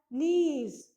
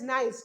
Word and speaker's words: niece: Nephew's feminine gender is niece, and students, NIEC is pronounced as niece. I have heard many children pronouncing it as nice. No, beta, it is not nice, it is niece.